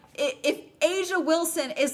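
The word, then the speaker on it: A'ja: Asia Wilson is the it's spelled A-J.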